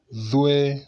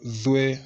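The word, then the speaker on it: ظ: The only difference is the dot. We call it Dhue. So the difference is like that. Dhue. The other one is Tue. The other one is Dhue. That is it. You make sure your tongue comes out Dhue, Dhue, something like that.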